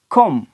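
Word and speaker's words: comb: फिर क्या होगा यहां पर थंब थंब अभी साइलेंट सी ओ एम बी तो ये वर्ड नहीं कॉम कॉम ये वाला वर्ड है इसी तरीके से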